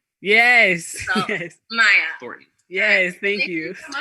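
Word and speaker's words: Myia: for the viewers please oh maya thornton m-y-i-a t-h-o-r-n-t-o-n and you can find me on instagram at it's maya thornton it's my phone it's m-y-i-a yes okay maya thornton yes thank you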